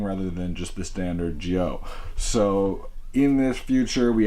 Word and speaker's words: Zi-O: focused on Kamen Rider Gio for those do not know common Rovio spoke kamen rider and then it's zio but it's pronounced with a J just so that if